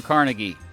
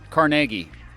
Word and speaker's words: Carnegie: That's because the billionaire who donated money for this building to be built was Andrew Carnegie. Or Carnegie. It's pronounced differently depending on where you're from.